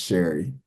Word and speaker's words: Shari: Um well, it's it's pretty much uh they say sorry, but it's pronounced Sherry.